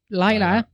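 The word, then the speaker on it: Lyla: Y is usually an I sound. Laya works. Yeah. We'll go with Laya.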